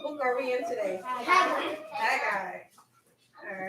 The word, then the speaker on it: Haggai: You pronounce Haggai as Haggai. Haggai.